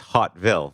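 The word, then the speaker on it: Haute-Ville: coming so so it in french it's uh it's uh it's hot ville for upper town so how would you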